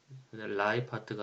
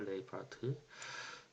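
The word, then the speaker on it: Lijphart: 선구자와 다름없는 그 학자인데, 라이파트가 아니라 LIJ인데 네덜란드 사람이라 이걸 레이라고 읽는다고 그래요. 레이파트.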